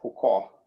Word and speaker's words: Foucault: Yeah, Foucault. So it's a French name, so half of the letters are not pronounced.